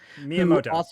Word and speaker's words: Miyamoto: Nintendo you know do you know how to pronounce his name um shiguro miyamato Miyamoto I mean everyone knows Miyamoto I mean nerd